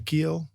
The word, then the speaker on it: Giel: I think the hard G throws people off. The J. But yeah, just it's German.